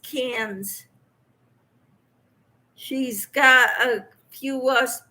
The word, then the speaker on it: Cairns: told me it's pronounced cans she's got a few us people from australia in her lives once and she said cairns and they laughed at her and they told her it's pronounced cans so thank you i